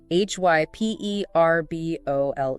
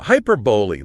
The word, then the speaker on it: hyperbole: Hyperbole, meaning exaggeration for effect. The key is the pronunciation. Hyperbboy. Stress on the second syllable and it ends with an e sound. Not hyperbol. Definitely not hyperbol. Hyperboly.